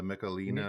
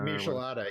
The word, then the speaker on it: Michelada: I can never pronounce that. The Michelina. Michelada, yeah.